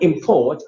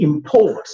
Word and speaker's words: import: He imports, you see, he imports rice. The rice he imports are called imports, okay? Imports, first syllable high. Imports. Look at the verb. Import.